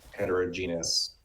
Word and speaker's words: heterogeneous: Is there a place for strategy in heterogeneous? Sorry, can someone pronounce that word out loud quickly?